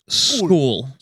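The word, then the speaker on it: Scull: Apparently, it's pronounced school. Um we've been saying skull for the past two months, but um sorry about that.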